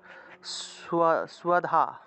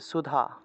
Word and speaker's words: স্বধা: হলো নম্বর তারপর 74 সুয়াধা আচ্ছা সুধা সুধা উচ্চারণ হবে সুধা সুধা তুয়ামাক স্বরে